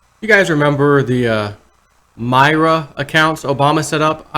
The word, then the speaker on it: MyRA: You guys remember the MyRA accounts Obama set up? I remember doing at least a couple of videos on this when they first came out. MyRA, like MyRA, is how they pronounce it.